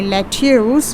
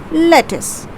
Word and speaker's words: lettuce: have again it's a vegetable you don't say let's use but you say lettuce how do you pronounce this as this is pronounced as lettuce okay next we have the sweet that is